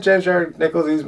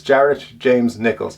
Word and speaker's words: Jared James Nichols: So that's it, James Jared Nichols. I always say it wrong. I always say James Jared. It's Jared James Nichols.